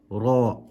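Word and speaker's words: راء: Try not to roll and say ra. Try not to make that rolling motion with your tongue. It's just ra with a full mouth.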